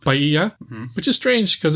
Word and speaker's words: Bahia: We move on next to the segment called Bahia, which is strange because it's named after the Brazilian state, which is pronounced Bahia.